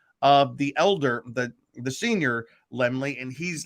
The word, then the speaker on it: Laemmle: Oh, it's Carl Laemmle Jr. But the Laemmles started Universal Studios, and Carl Laemmle Jr. is the son of the elder, the senior Laemmle, and he's, like Luke was saying, he's the